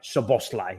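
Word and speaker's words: Szoboszlai: of the match Dominic soboslai yes I pronounced that right so bosslai he's the boss he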